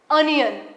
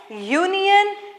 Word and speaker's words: union: sound so yeah or y is a consonant hence we pronounce it as union and useful book hence